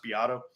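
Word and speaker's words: Beato: and he is it spelled Beto but it's pronounced be Otto and he did it did a video about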